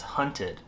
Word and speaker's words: Hunted: that way earlier but it's hunted not haunted Shh stop it okay